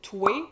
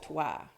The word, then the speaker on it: toé: And "toé" is just the informal pronunciation of "toi".